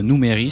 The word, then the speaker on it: Numeri: Donc le jeu que j'ai choisi aujourd'hui c'est Numéri, ou Numéri si vous voulez le prononcer à l'allemande.